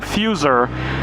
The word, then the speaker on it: Fusar: Now, there's a new action camera coming out from a company called Fusar, I want to make sure I'm pronouncing it right, Fusar, F-U-S-A-R, and they produced an action camera that